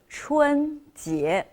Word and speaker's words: 春节: That is the Spring Festival, and you can see it's pronounced 春节.